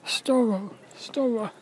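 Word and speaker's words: Storror: a youtube channel called story store it's spelt like horror it's s-t-o-r-o-r what they are is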